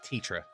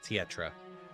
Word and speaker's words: Tetra: You're adding an extra syllable in there. It's just Tetra, not Tetra.